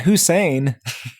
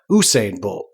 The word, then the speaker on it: Usain Bolt: usin what's his name it's not Hussein usin bolt yeah had in an H Usain Bolt like he just finished the 100 meters but pronounced you say okay he's saying she